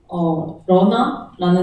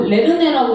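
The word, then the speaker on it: Lerna: 그리고 저희는 이 대규모의 프론트엔드 아키텍처를 위해서 러나라는 친구를 썼어요. 사실 알고 보니까 그리스 영어고 뭐 레르네라고 읽는 게 맞다는 얘기도 있고 근데 저희는 뭐 이게 도대체 어떻게 읽어야 되지? 하면서 그냥 러나 했던 것 같아요.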